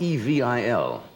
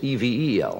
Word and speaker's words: Evel: It's not E-V-I-L, evil. Yes. It's E-V-E-L. I suppose he pronounces it Evel, does he not? I think he says evil.